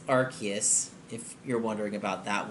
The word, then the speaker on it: Arceus: Arceus or rks or Arceus and it's it's Arceus if you're wondering about that one and sometimes